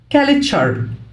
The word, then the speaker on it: culture: T-U-R-E بتنطق شر، culture.